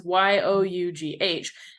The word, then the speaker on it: Yough: And I think it's Yo like with an exclamation point, like yo, but it's spelled like dough. So it's Yough.